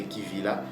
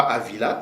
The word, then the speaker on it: Kivila: Maintenant qu'on vous a réveillé la bonne prononciation bien-aimés frères au sœur, donc vous comprenez maintenant que après avoir lu le le le récit des Danites, nous savons désormais que la terre de Kivira ou Kivila, OK, pas Avila, ça c'est une mauvaise prononciation.